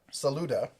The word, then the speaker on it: Saluda: Ed White said it's pronounced Saluda. So he said we got it right.